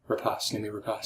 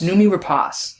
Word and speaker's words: Noomi Rapace: I'm going to continue mispronouncing it. How do you say it? Noomi Rapace. Noomi Rapace.